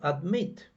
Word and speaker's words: admit: altering altered altered okay now admit the the the stress falls on the last syllable admit admits admitting with